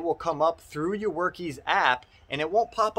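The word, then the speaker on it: Workiz: Another app, guys, that I talk about all the time and I use all the time is WorkIs, it's pronounced actually.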